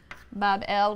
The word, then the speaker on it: Babylon: a magnificent shrine or temple in Babylon, pronounced Bab-el, which simply means gateway of the god, the gate of the god.